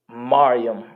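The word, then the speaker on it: מרים: After that is Miriam. Mariam in the Hebrew. Mariam. Spelled Ma-ra-ya-ma. Mariam.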